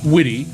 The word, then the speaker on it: Witte: have a great interview her name is christine witty now it's spelled w i w-i-t-t-e but it's pronounced witty and she's got a major stack card out